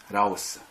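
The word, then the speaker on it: λαός: 헬라어로는 라오스 이렇게 불러요. 저쪽에 있는 나라 이름 라오스 나라가 있는데 이게 발음이 같아요. 라오스.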